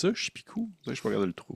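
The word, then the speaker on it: Czepeku: Chipou. Je peux regarder le trou. Chipou. Ça s'écrit c z e p e k u.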